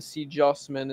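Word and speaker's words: CJ0SMEN: C Jossman is what it's pronounced as.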